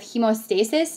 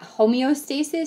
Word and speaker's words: hemostasis: Platelets are in charge of hemostasis, not homeostasis. Students mispronounce this a lot.